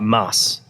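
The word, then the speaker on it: Maß: for uh Stein but you ask for a mass which is ms spell em a and then the B that's pronounced like a double s and so you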